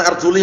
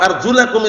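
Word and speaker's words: أرجلكم: pembahasannya Naam wamsahuusikum waula jangan arjuli bacanya karena Syiah rfidah bacanya arjuli wa arjulakum ka'bain dan cucilah kaki-kaki kalian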